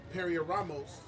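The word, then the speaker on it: πειρασμός: This is G3986, and it's pronounced perioramos.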